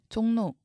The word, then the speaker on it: 종로: 종로, 역시 비음화가 일어납니다. 리을이 니은으로 바뀝니다.